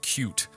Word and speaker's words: Qt: But if you know C++ and the widget toolkit Qt, or I think you're supposed to pronounce it cute, we could definitely use more help, so come on down to the forums and introduce yourself.